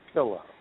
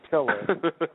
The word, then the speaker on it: pillow: Okay, pillow. Not pillar, pillow.